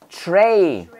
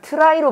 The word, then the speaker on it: tray: 근데 이 발음을 일본 애들이 발음 못해서 이거를 try로 발음했어요. try. 그래서 군대 가면 먹는 식판 있죠. 식판. 식판을 try라고 그래. try. 야, try 닦어. try 닦어. 그러거든요. try가 아니라 영어로 뭐다? tray, tray.